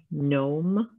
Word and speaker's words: gnome: Now, these all have a silent G in them. So this has a silent G in the beginning. This one has it in the middle of the word.